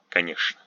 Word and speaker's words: конечно: Ch is expected to be pronounced ch, but is pronounced sh. Конечно.